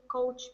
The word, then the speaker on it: couch: He can be a real couch potato. Yeah, very good. Correct answer. Be careful of pronunciation. Ow, like cow. Couch.